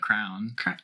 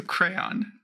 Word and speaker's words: crayon: this wrong, apparently, but crown. Wow. Crown. Okay. It has 2 syllables, but my mouth just won't do it. So crayon.